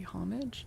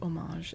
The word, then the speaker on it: homage: They're both okay. The French one is like it's a French word, and so homage is correct, but there's an English pronunciation which is accepted if you're speaking in English, just like the word visage, face for French. If you're saying it in English, you say visage. It's just the bastardized English pronunciation of it.